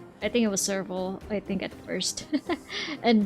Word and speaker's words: Serval: Serval's name isn't pronounced like the animal. See, I think I pronounced it a different way when I first read it as well. What was it pronounced again? Serval? Serval.